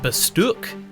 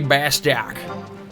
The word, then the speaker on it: Bastok: I've ever heard of Bastok was in the opening cutscene with the like nice British guy who's like, the Republic of Bastuk. And I was like, wait, Bastuk? It's definitely Bastok.